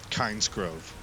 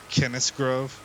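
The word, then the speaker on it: Kynesgrove: open up with uh kinds Grove I think it's actually pronounced Kenneth Grove I think that's how they say it in the game uh but yeah that'll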